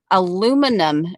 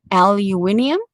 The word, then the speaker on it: aluminium: is a ginny belly aluminum bead aluminum foil aluminium for the british aluminium i think um jimmy